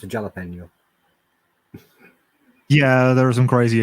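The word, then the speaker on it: jalapeño: mean it's it's mexican it's pronounced with the same sort of j as every other spanish word which is more like a h than an actual j it is but i'm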